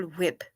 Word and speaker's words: whip: Did you just pronounce the H? Yes, Cool Whip. Miracle Whip.